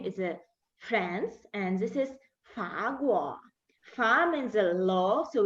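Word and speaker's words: 法国: Then we go to the next country, is France, and this is Fa Guo.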